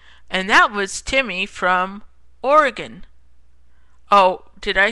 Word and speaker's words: Oregon: says he goes and that was Timmy from Oregon oh did I say Oregon I meant oron like he says it's stretched out obnoxious mispronouncing and I think he knows that it